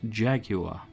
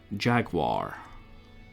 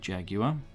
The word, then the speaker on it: Jaguar: Notice I pronounce Jaguar. I know in America it's Jaguar. But in Old Blighty we pronounce it Jaguar.